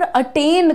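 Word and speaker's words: attain: हासिल करना अचीव करना स्पेलिंग पर ध्यान दो और उच्चारण देखो क्या रहेगा अटें अटें ये वाला जो तुम्हारा वर्ड है इसमें ए नहीं ए लगता है वो भी लाइट अटेंड आई अटेंड उदिशा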